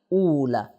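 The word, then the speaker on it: أُولَى: दो प्रोनाउंसिएशन है। औला उला। इसमें कंफ्यूज ना कीजिए।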